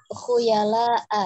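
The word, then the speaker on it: خيلاء: Koreksinya pada pengucapan khuyala'a ya, khuyala'a itu hamzah ya, bukan ain.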